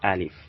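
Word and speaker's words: ألف: the example for it is this call it alif espanol alif alif alif alif the nurse is the second one is pronounced to be ba this is called ba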